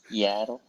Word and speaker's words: Yaddle: Her name rhymes with paddle. Yeah. Addie. Yaddle.